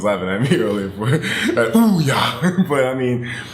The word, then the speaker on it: Ouya: Don't think about the Ouya and I know it's pronounced Oya or I think but I call I I call it the Ouya. My girlfriend was laughing at me earlier for Oooya but I mean it's